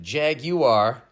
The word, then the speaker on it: jaguar: __ ] accent um with the second syllable sounding like the name of the band Gwar but then to further confuse you the Redcoats pronounce it Jaguar as in Spanish it's